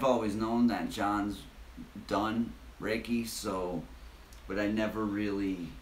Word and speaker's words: Reiki: John actually does Reiki, or how do you say it? Reiki.